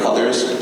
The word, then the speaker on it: Colliers: Am I pronouncing that correctly, Colliers?